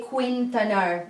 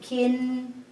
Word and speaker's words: Quintanar: So Q here, we don't say Quintanar. We don't pronounce this U. Just the Q and I, it would make like Quintanar. So we don't say Kui, we say Ki, like K and I.